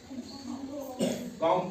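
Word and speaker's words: comb: सी ओ एम बी इसको क्या पढ़ते है कम पढ़ते है है ना लेकिन कंपनी पढ़ रहे है बी की आवाज नहीं निकालनी हमने य क्या बोला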